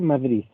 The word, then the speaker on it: Madrid: en madrid sin embargo en españa en castilla mejor dicho en el centro de españa se dice madrid porque la des final de una palabra se pronuncia como z en muchos casos madrid-